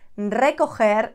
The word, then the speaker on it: recoger: Recoger, roll that R.